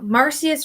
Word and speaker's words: Marsyas: The word is Marsys. Marsyas. Marsyas. Marsyas from Phrygia. Phrygia. Phrygia. Marsyas from Phrygia. There we go. So, Marsyas from Phrygia.